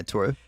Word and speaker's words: Toru: Yeah, Toru.